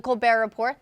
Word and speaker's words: Colbert Report: The Colbert Report, the T is silent, will air its final